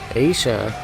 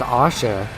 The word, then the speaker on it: Asha: could say, embarrassed by Aisha, or not Aisha, I believe it's Asha, is how you pronounce it, Asha.